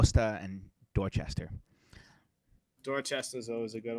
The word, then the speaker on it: Dorchester: exact same W and Dorchester is spelled the same way but we don't call it duster um that was a